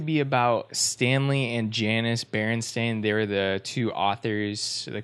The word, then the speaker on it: Berenstain: it is I mean I know it's Berenstain but it's like deep into my childhood consciousness and it's Bernstein you know so anyways